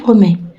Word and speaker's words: promets: promets لا نطقش لا الت ولا الأس.